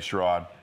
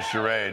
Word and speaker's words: charade: on to something charade Sharad there was actually a Frasier episode where Niles and Frazier exchanged the proper pronunciation of that word and Frazier said charade Nile says she's always